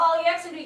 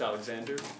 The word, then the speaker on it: Alexander: Because it's pronounced Alexander.